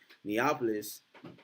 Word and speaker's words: Neapolis: now neopolis uh neopolis i just said neopolis neopolis is how you say it neapolis um actually means new